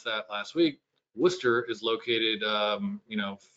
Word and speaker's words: Worcester: You can see Wor Worcester is uh I learned how to pronounce that last week. Worcester is located um you know 30 40 minutes to the east and Springfield 30 40 minutes to the west.